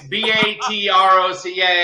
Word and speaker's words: Batroc: It's Batroc.